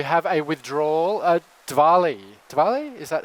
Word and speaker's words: Diwali: away uh we have a withdrawal a Diwali Diwali is that how you pronounce it yes okay from over there employment